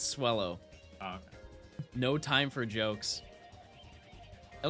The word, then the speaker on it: Swellow: is on this route rhymes with hello it's swellow no time for jokes